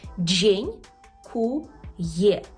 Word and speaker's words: dziękuję: може відповісти це людина джнькує дженькує ви мабуть вже чули слово джнькує в польській мові Тільки прошу вас правильно його вимовляти дженькує дженькує відповісти на дженькує ми